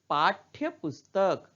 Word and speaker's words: पाठ्यपुस्तक: चिह्न लगा है है उसी तरह पाठ पुस्तक पाठ्य पुस्तक तो यहां ठंड के नीचे हर लगा है इसलिए ठोका उच्चारण थोड़ा कम हो रहा है आधा ही